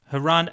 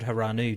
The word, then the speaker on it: Hirano: Hirano. Did I say his name right? Kaishu Hirano. Yeah. I said Hiranu, didn't I? Like Uvavu.